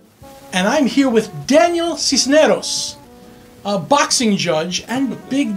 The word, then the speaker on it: Sisneros: So did I pronounce that right? Cisneros. Cisneros.